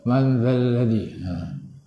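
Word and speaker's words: من ذا الذي: Dekat sini jumpa huruf yang keluar lidah ialah zal. Man zal ladzi. Man zal ladzi. Tak boleh manzal. Manzal tak boleh. Man zal ladzi.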